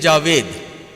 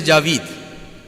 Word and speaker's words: Javid: book is Shah Javid in our Pakistani uh Indian pronunciation we will say h Shahid Javed we will say Javed but Iranians will say Javid it was Shahid Javid